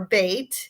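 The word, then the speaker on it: בית: kind of thing well bed or bait it rhymes with mate bait is a house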